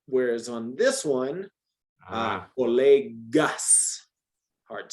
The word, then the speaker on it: colegas: Los colegas me informan que no hay trabajo el viernes. So informan, the verb, los, is it colegas or colegas? Colegas, hard G.